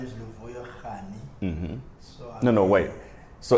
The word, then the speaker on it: Rani: time I get like when I introduce myself, I'm Luvuyo Rani. Yeah. Instead of Rani. So, Right. So it will happen. It becomes like a common because everyone they kind of pronounce it like Rani, and Rani in India is like a queen.